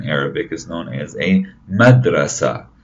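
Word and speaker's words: مدرسة: This is a picture of the school, and a school in Arabic is known as a madrasa, madrasa.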